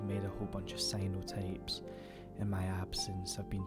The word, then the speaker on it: cyanotypes: They're not called cyanotypes, they're called cyanotypes. Sorry, let me just I'm so used to saying it with the wrong pronunciation that I've just fudged all that up, but they are cyanotypes, obviously cyan being the colour.